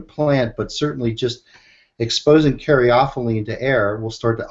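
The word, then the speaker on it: caryophyllene: was reading about the beta how do you pronounce this one guys? Karaophene karaophylene.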